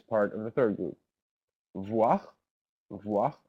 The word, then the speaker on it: voir: Voir, voir, OIR in French is pronounced voir, sorry.